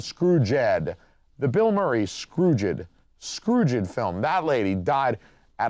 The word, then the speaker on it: Scrooged: I feel like I need to pronounce that more carefully. When you see it in writing, it's Scrooed. But like, you know, you get to talking fast and it's like Scrooge.